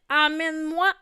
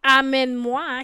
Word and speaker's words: emmène-moi: Alors, normalement, elle devrait dire emmène-moi là où ça sent l'amour. emmène-moi avec toi, emporte-moi avec toi. Et dans ce cas-ci, on écoute la prononciation amène-moi qui est aussi une erreur que font parfois les Québécois entre Aen et amen.